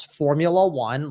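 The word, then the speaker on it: Phormula-1: them just telling you guys right now is Formula One like they spell it p-h-o-r-m-u-l-a Dash Ruan right and that is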